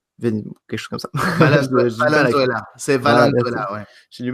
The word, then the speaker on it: Valenzuela: parce que leur latéral gauche s'était blessé, Milton Venezuela. Quelque chose comme ça. Valenzuela. C'est Valenzuela, ouais. J'ai du mal avec la prononciation, mais donc voilà, c'est un peu tout ça, nos départs.